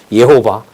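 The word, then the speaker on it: Jehová: 그 저자인 박 목사님 팍 뭐 이런 거 그리고 뭐 창세기 그리고 그 여호와가 지호바인데 스페인어로 H 발음이거든요. 예호바 이런 거는 또 예수스 이런 거는 들어오잖아요.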